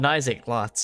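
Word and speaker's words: Naixatloz: Uh, about Nisa Lots. It's spelled N A I X A T L O Z.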